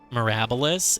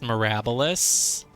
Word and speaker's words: Mirabilis: I think it gets fancy. It's like a silent S. It's Mirabilis. Mirabilis. It's actually pronounced Mirabilis.